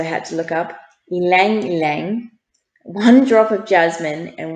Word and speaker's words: ylang ylang: this is what i had to look up ylang ylang one drop of jasmine and one drop of